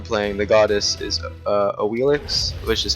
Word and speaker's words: Awilix: the goddess is uh AIX which is how they pronounce in game um if you're an expert supposedly it's called she's called aish the x is apparently pronounced like an sh but who cares so